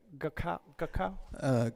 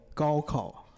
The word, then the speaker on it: gaokao: Did you take the how do you say that? Gakao? Gaokao.